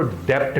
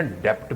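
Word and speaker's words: debt: आएगा टाइम बार डे जो स्टूडेंट्स इसको डेप्ट डेप्ट बोलते हैं ना डेप्ट बोलना बंद कर दो डेप्ट है बी साइलेंट है तो, टाइम बार डेप्ट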